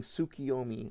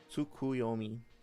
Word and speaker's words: Tsukuyomi: Somebody is gonna keep saying Tsukiyomi on the internet until people forget what Naruto is. Let's do this one last time. Okay. Tsukuyomi. Based on Tsukuyomi no Mikoto.